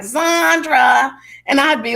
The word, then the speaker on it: Zondra: power on the table now my name is sandra as you know and that is spelled z-o-n-d-r-a and my middle name is yvette